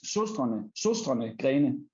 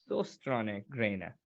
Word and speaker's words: Søstrene Grene: We have a letter in the Danish language that is called Ø, and I know that is really difficult for any foreigners to actually pronounce.